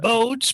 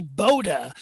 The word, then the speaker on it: Bode: as bodes Galaxy yes everybody wants to call it boats but his name is actually Boda he's a German you know they they pronounce that e on the end so it's Boda and I've got his